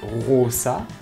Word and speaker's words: rosa: Donc c'est à dire que prononcer rosa, c'était rosa, parce que le O était long, hein, rosa.